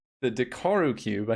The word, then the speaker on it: Dekkaru: is yeah kind of a problem yeah it's dakaru we want to credit the right person it is the dakaru cube I just said it wrong because I'm